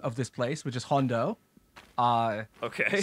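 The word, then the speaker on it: Jondo: this place, which is Hondo. Okay. So this is spelled Hondo with a J.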